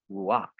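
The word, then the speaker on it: רוּחַ: So it's pronounced as ruak, ruak.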